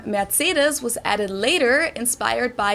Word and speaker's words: Mercedes: in Germany um so most americ call this Mercedes in German we pronounce it Mercedes so Mercedes versus matus matus so it's really